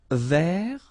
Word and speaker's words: vert: Vert. So masculine form, don't pronounce the final T.